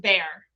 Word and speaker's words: Boer: All right, so I've heard it pronounced Boer and I've heard it pronounced bear. Either one. I've always said Boer. The Boer War of 1899 to 1902. Well, yeah, because it's kind of a Dutch pronunciation.